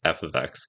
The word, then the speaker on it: f(x): example we have here F ofx that's how you say it with the X in parenthesis F ofx and we need to